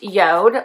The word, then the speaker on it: JORD: So I had a company called YODE. It looks like this. So it's spelled J-O-R-D, but it's pronounced YODE, like Y-O-D-E, which is a company that makes watches.